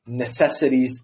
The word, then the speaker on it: necessities: necessities once again necessities focus on making this as like relaxed in your mouth as possible uh this sound right here I think is the schwa Necessities it's like you don't really need to say it at all the most difficult sound